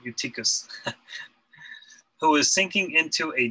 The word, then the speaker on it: Eutychus: Sometimes when I see the EU, it's hard to not pronounce it as an EV, because that's what it is in Greek, but Eutychus, who was sinking into a deep sleep.